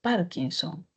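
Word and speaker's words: párkinson: aquí porque no es Parkinson ni es Parkinson. Parkinson es drújula.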